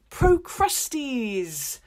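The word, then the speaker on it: Procrustes: official six labors is pro Krusty's this is my favorite one not just because his name sounds like the word crusty which is kind of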